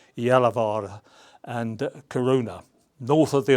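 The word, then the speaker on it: Gällivare: in the area of Galivari or I think the right pronunciation is Yalavara and Karuna north of the Arctic Circle there.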